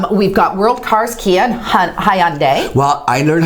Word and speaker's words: Hyundai: got world cars Kia Hyundai well I learned how to say this properly ready that's not correct how do you say it right with Monday Hyundai ok and then I